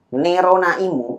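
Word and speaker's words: ネロナ・イム: Nerona. Jadi ini bacanya ne, ro, dan na. Kemudian lagi satu imu gitu ya. Ini i, ini mu. Ya. Jadi bacanya Nerona Imu.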